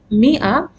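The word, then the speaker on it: مائة: hums means 500 hamsi we pronounce it as Mia but it has a long vowel which is not pronounced this is how we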